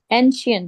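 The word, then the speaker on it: ancient: first कैसे pronounce कर एंशिएंट एंशिएंट मुझे पता था एंशिएंट श टाइम यस एन श एन सुनो ये एन को अलग कर एन शट श षटकोण वाला श रहेगा एन शेंट शंट नहीं रहेगा शंट नहीं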